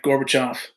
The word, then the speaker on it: Gorbachev: it it's Russian but so if we get it right Gorbachev glass Knost perestroika okay I'm so Mikhail Gorbachev